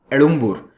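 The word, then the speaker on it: எழும்பூர்: अब एगमोर जो है उसका ओरिजिनल नाम है एडुम्बुर, लेकिन अंग्रेजों से क्या होता है कि ड़ प्रोनाउंस नहीं होता है, उनकी वो जबान रोल नहीं करती है मुंह में, तो वो ड़ को प्रोनाउंस नहीं कर पाते।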